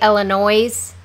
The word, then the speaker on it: Illinois: it's Joliet yeah or if you say Illinois they Illinois's yeah no it's Illinois which I said how